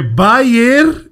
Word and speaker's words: Bayer: essa essa informação importante lá é bay Leverkusen sem n Bayern que significa então